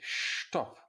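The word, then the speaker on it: Stopp: bag so he says taxi stop taxi shtop huh um this sounds rather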